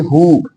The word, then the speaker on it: who: Silent है, when, why, लेकिन यहां पर देखिए who, यहां पर क्या साइलेंट है, W साइलेंट है, who, whose, whose, whose, whole, whole, whom, clear है।